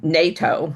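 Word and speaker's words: Naito: There was a doctor there who I'm gonna pronounce his name NATO. It's N AI TO.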